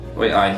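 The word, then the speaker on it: why aye: So Y is pronounced as way, so an I becomes an A kind of like sound, doesn't it? Way I, yeah, had a way, man.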